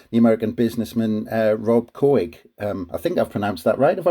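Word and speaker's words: Couhig: club by uh the american businessman uh rob koig um i think i've pronounced that right have i pronounced that right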